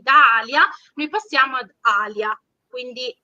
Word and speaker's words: Alia: proprio calco dall'arabo, perché in arabo noi pronunciamo Alia, c'è solamente un piccolo suono con la glottide, glottal stop tipico dell'arabo, ma il toponimo si